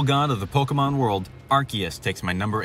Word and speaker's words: Arceus: And just to get this out of the way, I say Arceus. I know it's mostly pronounced Arceus, but when the pronunciation is so confusing that the Pokemon company themselves don't know how it's pronounced.